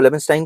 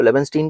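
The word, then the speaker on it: Leibenstein: Professor Harvey लेबनस्टाइन हैज, कुछ लोग इसको लेबनस्टाइन कहते हैं, कुछ लोग इसको लेबनस्टीन कहते हैं, तो प्रोनाउंसिएशन में फर्क है, बंदा तो सेम ही है ना।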